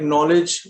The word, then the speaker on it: knowledge: So yeah, so even words like knowledge begin with a silent K.